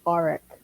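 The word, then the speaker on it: Arryk: It's Sir Eric and then Sir Auric. Man, It's spelled.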